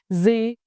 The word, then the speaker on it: gì: Gì in English mean what. In Northern dialect, gì is pronounced with a clear z sound, like gì is incredibly